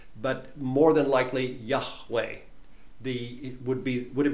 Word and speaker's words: Yahweh: name above all names probably Yahweh or Yahweh is the pronunciation of the name of God that probably hasn't ever been lost I'll just say that again probably we in the West don't use the guttural sound so Yahweh but more than likely